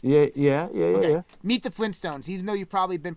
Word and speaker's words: Flintstones: family as the flintstones the actual name of the prehistoric family is flint stones not flynn stones it's flint stones like the flints to